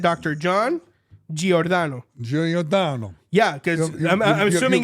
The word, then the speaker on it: Giordano: did I say it I said Dr John G orano Jan yeah cuz I'm assuming it's Italian you